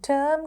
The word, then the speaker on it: term: දැන් term කිව්වම අපිට පුළුවන් firm වගේ වචනයක් එතන ලියන්න. එක විදිහට තමයි pronounce වෙන්නේ. term, firm.